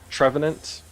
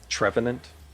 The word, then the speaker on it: Trevenant: Trevenant. Trevenant. Okay. I was gonna say Trevenant, but there's no tree.